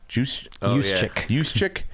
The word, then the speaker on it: Juszczyk: Juszczyk? Juszczyk.